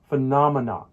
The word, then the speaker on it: phenomenon: has four syllables phenomena the stress falls on the second syllable the na sound come on say it with me phenomena phenomenon here's a centix example